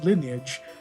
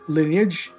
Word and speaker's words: lineage: Also, lineage. I used to like pronounce it line age until I got corrected by my friends collectively embarrassingly.